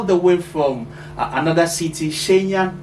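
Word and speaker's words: Shenyang: he came all the way from another city shenyon right that's how you pronounce it yeah all right so yeah yeah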